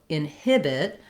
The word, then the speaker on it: inhibit: first part of inhibited, we have second syllable stress. And so inhibit, what I want is to have the length on the hib syllable to be short and light on the in syllable, and inhibit, again, light on the final syllable it.